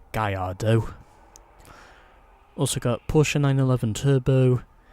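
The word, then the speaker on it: Gallardo: porer 911 Carrera Dodge Viper SRT10 the Lamborghini galardo or as it's actually pronounced gardo also got Porsche 911 Turbo the Chevrolet Corvette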